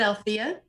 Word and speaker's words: Althea: enough i'll take it i pronounce it althea i'll say it because it's a long a at the end right so that was